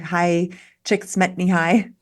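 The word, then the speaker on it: Csikszentmihalyi: the books Stephen Cotler and u m m High chick SMY High I finally learned how to pronounce often talk about flow states with sports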